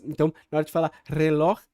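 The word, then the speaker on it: reloj: então essa palavra el relor el relor vai então vai ser essa pronúncia ele acertou a pronúncia do R do J né os brasileiros vão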